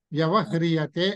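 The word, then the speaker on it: వ్యవహ్రియతే: వ్యవహ హిరియసితివ హృయతే అన్నమాట కానీ మనం పలికేటప్పుడు అరు అని పలకం వ్యవహరియతే అని పలకడం బాగుంటుంది ఉచ్చారణ కరెక్ట్ అది వ్యవహరియతే వ్యవహరించబడుతున్నది అని అర్థం అన్నమాట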